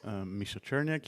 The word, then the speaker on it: Misza Czerniak: off now okay hi everyone my name is misha cherniak yes pronounced here him i am originally russian which